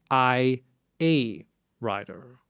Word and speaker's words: iA Writer: Yeah, it's I hate to pronounce his name because these days we all want to say AI, but this is IA writer. It has nothing to do with AI.